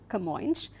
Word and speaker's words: Camões: This historical epic, the Lusiads, was written by Camões, and this is how this name is pronounced, Camões.